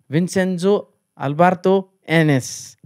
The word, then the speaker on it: Vincenzo Alberto Annese: league itself so gokulam back-to-back Champions under coach Vincenzo Alberto NS is that the right pronunciation yeah sure sure this is fine it's